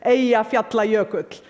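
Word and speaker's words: Eyjafjallajökull: friends including President Obama by the way the pronunciation is a efe apply a coat none of your media got it right but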